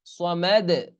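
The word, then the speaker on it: صمد: সামাদ এই দালটা কলকলা হবে। দালটা সামনে মানে সাকিন করলে তখন হালকা জবরের আভাস পাওয়া যায়, কিন্তু জবর সরাসরি উচ্চারণ করা যাবে না, লাফ দিয়ে উঠবে কিরকম, আল্লাহু সামাদ।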